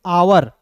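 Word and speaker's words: hour: ध्यान से देखिएगा एच ओ यू आर पढ़ेंगे आवर। देखिए दोस्त इसे पढ़ते हैं हावर लेकिन उच्चारण लिखते हैं दोस्तों आवर के रूप में उच्चारण करते हैं, क्लियर।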